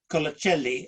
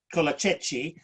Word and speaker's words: Colacelli: would like to ask fabrizio colacelli oh sorry i've mispronounced your surname kolachi to say a few